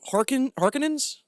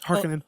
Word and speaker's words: Harkonnen: the Atreides and the Harkonnens. Did I add that syllable? Yes, Harkonnen. Harkonnen.